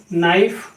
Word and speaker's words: knife: के कब साइलेंट होता है, जब ये एन के पहले आता है, जैसे KNO, नो, KNIFE, नाइफ, KNIGST, night. अब यहाँ पे देखिए ये जो के है साइलेंट है, के साइलेंट है।